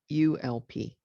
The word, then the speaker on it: ULP: the upper limit Problem by its acronym ope ulp they pronounced it as in gulp one of the group's